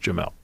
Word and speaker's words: Jamel: It is pronounced Jamel. Jamil. Yeah, it looks like Jamil because I asked him.